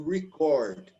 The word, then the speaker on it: record: But to write down, like to record. Okay, the stress goes to the second syllable.